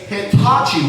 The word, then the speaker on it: Hitachi: But I I can't help but notice you're mispronouncing the product that you got. It's called a Hitachi Wand. Hitachi Wand. Because hibachi is something completely different.